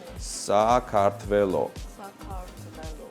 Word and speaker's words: Sakartvelo: So you write these letters and you pronounce them exactly the same as letters. So Sakartvelo.